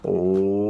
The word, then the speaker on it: Om: Om peut se prononcer donc de la façon suivante. On part donc du fond de la gorge, qu'on commence par A, Om, pour finir donc sur les lèvres.